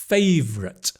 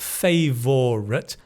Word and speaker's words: favorite: favorite. Not favorite. Favorite V. Little children when they play with a car, they go vroom vroom v. Like every the same favorite.